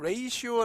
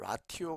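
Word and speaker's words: ratio: 없는 거예요네 두 번째는 레이시오 발음이 돼요 라티오 아니죠 레이시오 5라고 보는데 비율이 됩니다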